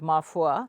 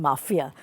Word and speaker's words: Ma Foi: We've had people even saying mafia. Oh, that's not very good. Not good at all. Yeah. So, but I just, laughingly say probably the recall value is higher, so it's okay. It's mafia. So people mispronounce it because, as you know, French words, it's not easy to pronounce.